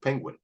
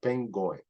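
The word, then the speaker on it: pingouin: and this is the the package is called penguin uh but it's not pronounced that way okay it's pronounced Peno so when we do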